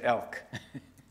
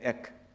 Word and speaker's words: Ek: Elk. Or is it Ek? How do you pronounce it? Ek.